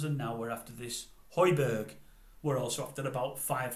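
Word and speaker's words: Højbjerg: United and now after is it Hoiberg I think he's pronounced heidberg from Spurs Central midfielder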